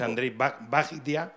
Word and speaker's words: Andrzej Wajda: el mejor director polaco, Andrzej Wajda. Sí. No, no lo pronuncia así, no sé. No, la pronunciación en polaco. Yo tampoco. Es Andrzej Wajda.